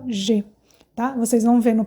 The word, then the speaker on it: je: O primeiro é o je. Je é eu. E o que acontece com o je? Se escreve J-E e é o sujeito, significa eu em francês.